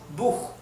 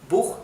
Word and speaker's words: Buch: La CH en alemán se pronuncia como una J del español, o parecido a una J, ¿verdad? Por ejemplo, Buch, Buch, que significa libro, que se escribe así.